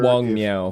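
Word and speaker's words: Wang Miao: Wenxie, and then also in the audiobook it's pronounced Wong. I'm not sure. Wong Miao. Wong Miao. Okay. Yeah. So I'm going to trust the audiobook pronunciations, even though they're a little bit, they don't quite correspond to the spelling, but I think the romanization of Chinese is just wonky.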